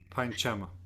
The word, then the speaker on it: Panchama: Pa, Pankama, cuckoo. Panchama. Panchama. Da, Devata, donkey. Dhaivata. Daivata. And Nisada, elephant. It also can be pronounced Nikada, but again, Ka is not pronounced